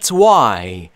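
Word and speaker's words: why: تکرار کنید لطفا ب وا ب یعنی اما وا یعنی چرا دقت بکنید که دوستان اچ در اینجا ناخواناست و دبلیو رو وقتی میخواید تلفظ کنید لبهاتون حالت لولهای باشه اما چرا چون تلفظ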